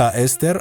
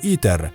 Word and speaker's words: هيستر: كما هو الحال في كلمة هيستر التي أسقطها الناس على هتلر. فتلك الكلمة يمكن أن تنطق إستر أو إيتر، وكلاهما لا تدلان على هتلر أو غيره، وكذلك الأمر مع باقي الرباعيات.